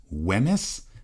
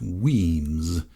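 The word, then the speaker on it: Wemyss: should be said as whis by the way it should properly be pronounced weams as it is in his native Scotland so that's what I'm going to do from now on weams came to Philadelphia in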